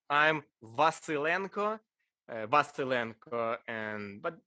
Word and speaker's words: Vasylenko: your first name obviously um don't bother everyone mispronounces it say i'm vasylenko baster and but call me andre nd